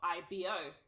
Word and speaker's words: Ibo: have entitled this episode IBO so it's actually pronounced IBO but not the indigenous way that we spell